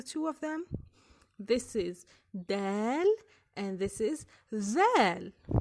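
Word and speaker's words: دال: A dal is the counterpart of the English letter D, which is pronounced by having the tip of the tongue pressed against the top of the mouth, right behind the front tooth, then slightly pushing air, separating the tongue and the upper mouth.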